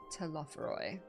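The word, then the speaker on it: Telophoroi: Telophoroy.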